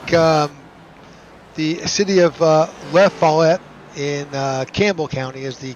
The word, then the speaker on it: Lafayette: So it looks like the city of Lafayette in Campbell County is the correct pronunciation.